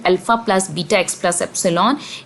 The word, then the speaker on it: epsilon: ये एप्सिलॉन कहलाता है, EPISLON एप्सिलॉन, EPSILON एप्सिलॉन इसकी प्रोनाउंसिएशन है।